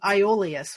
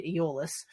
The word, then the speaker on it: Iolaus: Like, they did a good job of saying "so they say," and having they pronounced his name Iolaus, which is weird. I always say Aeolus.